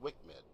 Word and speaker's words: WCMD: IMs carried by the A-10C include the joint directed attack munition, JDAM, and the wind corrected munition dispenser, WCMD, often pronounced Wick-Med.